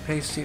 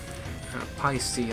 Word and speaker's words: Paiste: 17 inches right here another pasty alpha Pi see I guess is the proper way to pronounce it sorry the 16 inch